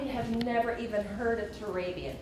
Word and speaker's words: Turabian: never even heard of turabian in fact they'll come in and mispronounce it drabian can you help me